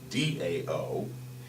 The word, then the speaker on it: Tao: The Chinese word Tao, spelled T-A-O, and we pronounce it D-A-O, is translated as the way or the path.